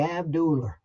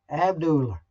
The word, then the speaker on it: Abdullah: from the Georgia days, and that will be Abdullah. They always yep. put an R at the end of that. Abdullah.